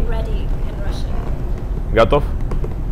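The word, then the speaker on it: готов: Gotov. Gotov?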